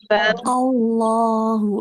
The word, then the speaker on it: Allah: Cara bacanya Allah. Allah. Jangan Allah. Bukan. Bukan Allah ya. Bukan ke Allah gitu ya. Jangan terlalu tebal. Allah ya. Tebal dia. Dia tebal tapi jangan terlalu tebal. Jangan terlalu berlebihan.